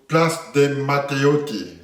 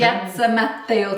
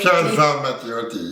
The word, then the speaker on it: Piazza Matteotti: So from the cathedral, you're going to Place de Matteotti, is correct pronunciation? Piazza Matteotti. Piazza Matteotti, yes, I need to speak with my hands.